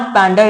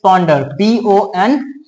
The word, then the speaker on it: ponder: जैसे पहला पैंडर, actually it's नॉट पैंडर, इट्स पॉन्डर, PONDER.